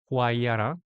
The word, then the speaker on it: Huayra: I hope I pronounce it correctly. It's Huayra.